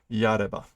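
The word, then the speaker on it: 殺れば: There's another pronunciation for yaru. Okay. Yareba.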